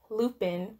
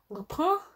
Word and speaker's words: Lupin: to pronounce it as Lupin, but I know that's not how you say it. I believe it's called Lupin? Lupin? I don't know if you emphasize the N or not.